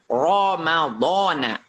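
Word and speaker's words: رمضان: Jadi keadaan pertama, apabila huruf ro-nya itu dibaca fathah, maftuhatan, ya. Jadi keadaan yang pertama apabila huruf ro-nya itu dibaca fathah. Mana contohnya? Ramadhana. Ramadhana. Ramadhana. Ya, jadi Ramadhana. Jadi dibacanya tafkhim.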